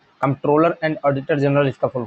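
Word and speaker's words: Comptroller: बहुत important question है कंट्रोलर and auditor general इसका फुल फॉर्म देखिए कंट्रोलर नहीं होता है कंट्रोलर होता है सी ओ एम प टी आर O double L ई आर ठीक है कंट्रोलर एंड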